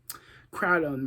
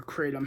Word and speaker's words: kratom: This has been a really triggering week for me in terms of kratom or kratom, however people pronounce it. You could say it either way.